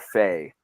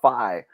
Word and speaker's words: Faye: Well, they have it like on the pronunciation, they have it Babacar Fa, but then at Charleston, they call them Babacar Phi. And so you talk to their guys and they're like, yeah, he says all three too.